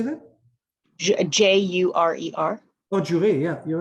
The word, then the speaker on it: jurer: Jurer.